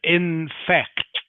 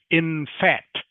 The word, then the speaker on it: in fact: Okay, in fact. Okay, if you don't say the C sound, it sounds like in fat. In fact, which is not correct. Doesn't make sense.